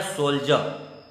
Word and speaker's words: soldier: पहला वर्ड है सोल्जर, SOLDIER, यहाँ डी का उच्चारण बड़ा जॉ हो रहा है, सोल्जर।